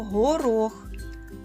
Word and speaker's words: горох: так наголос падає на другий звук о слово горох горох знову наголос на звук о наступне слово газета давайте